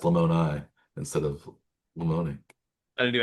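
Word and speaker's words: Lamoni: Oh, that's why it's pronounced Lemonai instead of Lemon.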